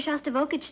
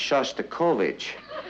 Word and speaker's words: Shostakovich: he's taking me to here shage tonight honey I think that's pronounced Shostakovich we'd like to meet